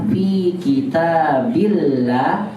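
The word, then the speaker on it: فِي كِتَابِ اللهِ: Asalnya kalau dia bukan sebagai mudhof, maka dibaca fi kitabin, gitu kan? Karena ada fi-nya. Tapi karena dia sebagai mudhof mau disandarkan, saya tidak boleh berikan tanwin, maka dibacanya fi kitabillahi.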